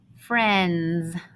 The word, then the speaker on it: friends: talking vowel sound friends now this part is the tricky part because this eye is actually silent we don't hear f